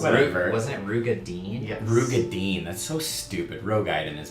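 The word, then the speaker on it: Roegadyn: I am playing as Skarndrist, and I am a Rogaiden. Or is that how you say it? Nope. Who cares? I don't know how you say it. Rugadin? Close Whatever. Wasn't it Rugadine? Yes. Rugadine.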